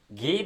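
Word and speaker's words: Guy: इसको गाय नहीं पढ़ना है। फ्रेंच राइटर में जैसे हम लोग बोलते हैं गाय उस तरीके से नहीं पढ़ना है। घी देसेंट इसको जो है सो फ्रेंच में हम लोग उस तरीके से प्रोनाउंस करते हैं।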